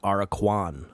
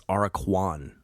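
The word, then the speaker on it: Aracuan: the song for the Araquan. I've been saying it wrong. Have I been saying the Araquan? I don't know what I've been saying, but it's Araquan bird.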